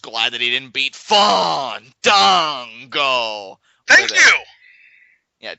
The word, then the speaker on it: Fandango: I didn't say Fandango. I said Fandango.